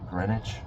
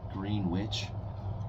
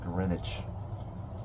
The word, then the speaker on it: Greenwich: I liked Greenwich. Greenwich. It's spelled green witch like sandwich but green witch but they pronounce it greenwich.